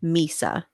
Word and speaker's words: Mhysa: How do you pronounce this, Christina? Mhysa.